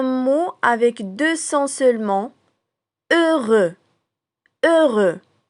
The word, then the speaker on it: heureux: Heureux. Heureux. E avec un H muet comme si on prononce deux.